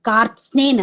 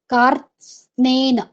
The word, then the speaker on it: कार्त्स्नेन: तो इस तरह के जो संयुक्त शब्द होते हैं, संयुक्त व्यंजनों से युक्त, तो इनका उच्चारण कार थोड़ा सा तोड़कर कार स्न, आधा त, कार स्नेन, ऐसा। क्योंकि त जो आधा होता है उसका आधे वर्णों का उच्चारण तो हम कर नहीं सकते, लिख सकते हैं पर उनको बोल नहीं सकते।